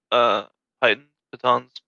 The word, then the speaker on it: piton: I mean, do we have other pitons?